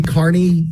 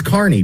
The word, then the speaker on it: Kearney: 2025 active investigation of Karen Reed and Aidan Kearney. Thus, if one of them flips, you don't know how to say Kearney yet. It's Kearney, dude. It's pronounced Kearney.